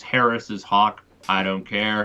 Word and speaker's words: Harris's hawk: But I acknowledge it's Harris's hawk, not Harris hawk.